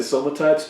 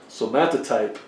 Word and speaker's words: somatotype: my superpower so so i want to say some types but it's not right i think i've said someone types for 20 years but uh i don't know if you can hear this so methotype somatotype is the way it's supposed to be pronounced anyway um somatotypes are